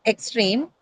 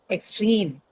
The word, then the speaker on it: extreme: But because of the presence of the long E sound in train in the second syllable, the stress moves from the first syllable to the second syllable. So not extreme, but extreme, right?